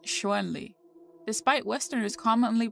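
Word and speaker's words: Chun-Li: It is properly romanized as Shanli in pinion and pronounced Shuenli. Despite Westerners commonly pronouncing it as Shanli, the Japanese rendering of the name is Shunre.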